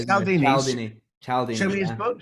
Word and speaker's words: Cialdini: Oh, mispronounced his name. There's an I there. Cialdini.